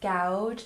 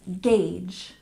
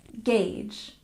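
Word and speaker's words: gauge: number eight is Gage and remember it's not gouge it's not gouge it's Gage Gage good and number nine genre we stress the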